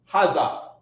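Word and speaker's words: هذا: So being now that we've comprehended that za is this, you want to say haza. Right? Haza is the proper way to say this.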